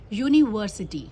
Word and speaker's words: university: तो यूनिवर्सिटी में स्पेलिंग क्या है? UNIVERSITY, यूनिवर्सिटी. तो आप उसमें क्या करेंगे? यूनिवर्सिटी में क्या आपको अ का साउंड आ रहा है? इस यू में अ का साउंड आ रहा है? नो, आपको य का साउंड